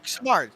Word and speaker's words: Simard: Is it Simard or Samard? Samard. Chris Samard. Samard.